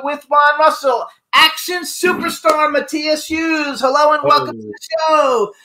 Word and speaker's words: Matthias: have a question for you so is it Maas mathas how do we pronounce it correctly it's Matias Matias see that's what I said I said that